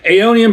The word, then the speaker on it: Aeonian: Aonian Brewing Company.